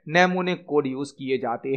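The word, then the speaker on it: mnemonic: है assembly language में नेमो निक code use किए जाते हैं नेमोन कोड यहां पर एम साइलेंट होता है नेमोन कोड यूज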